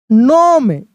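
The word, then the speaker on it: gnome: That a kind नोम ji silent है।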